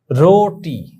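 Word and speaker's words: روٹی: এটা মারাত্মক ভুল কথা রটি দেখো তোমরা রে ওয়াও পেশ রো টে ইয়ে রোটি এখানে রুটি বললে কিন্তু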